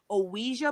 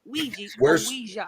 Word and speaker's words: Ouija: used to promote for OA boards that's how they said it it's OA not IGI we're saying it wrong I've always I've always